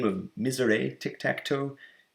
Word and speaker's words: misère: This game sometimes goes by the name of Misere Tic Tac Toe, Misere, how do you say that? Misère.